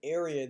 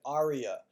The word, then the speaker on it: area: Another time I had a student, instead of saying area, they said aria.